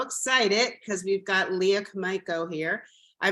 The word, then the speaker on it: Komaiko: And today I'm so excited because we've got Leah Komaiko here. I pronounced your last name correctly, right?